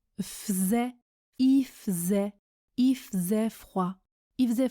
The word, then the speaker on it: faisait: Il se prononce i, je ne prononce pas le L quand je parle vite, et faisait se prononce faisait, il faisait froid, il faisait froid.